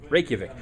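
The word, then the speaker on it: Reykjavík: it prop I know it's so easy raic rikic just don't look at how it's spelled that's right uh you know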